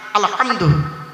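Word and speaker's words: الحمد: আলহামদু, গলার ভেতর থেকে হে এটা উচ্চারণ করবেন, আলহামদু।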